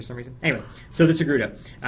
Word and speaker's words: Togruta: So again, we've shown you guys the Togruta, pronounced Togruta, not tortilla or tortuga.